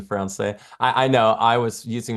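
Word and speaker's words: Français: Ahmed said, "Don't pronounce the S in Francais."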